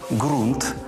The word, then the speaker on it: ґрунт: Із звуком Ґ назву найуживаніші запам'ятайте їх гава грунт агрус ґнок ґдзик ґгнути грати гуля і Дзига